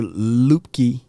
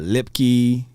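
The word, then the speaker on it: Luepke: quick we see Hunter lupke yep a lot of people gonna mispronounce his name right I've been hearing lipkey and loop uh just just Hunter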